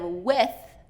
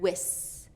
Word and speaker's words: with: And instead of with, with, I'm hearing wis, wis. So we gotta get that American TH sound working for us.